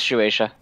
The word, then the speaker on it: Shueisha: better than i do sorry there's an s in there okay there we go it's shueisha perfect uh the the thing